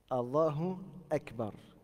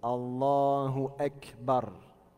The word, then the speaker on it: الله أكبر: من كبر ده الله أكبر كبر ده مين نعم donc c'est Allahu Akbar. Donc il faut bien le prononcer comme ça. Allahu Akbar. On ne dit pas Allahu wa. Ça, ça se prononce pas comme ça, d'accord.